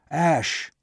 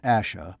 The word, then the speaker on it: Ash: "Ash!" Not Asha, but Ash. Ross, though sure of that pronunciation, was still cautious.